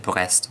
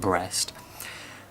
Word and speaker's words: Brest: And Brest, I know I should pronounce it Brest, but I'm not going to because it's funnier to pronounce it Brest.